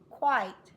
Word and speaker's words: quite: he quit he is quite tall quiet two beats quiet quit short eye Qui because it has a silent E this I has to say its name I long I say it with me